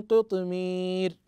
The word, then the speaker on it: قطمير: في قراءتها وفي تلاوتها من قطمير هكذا تنطق ابنائي وبناتي كذلك في قوله سبحانه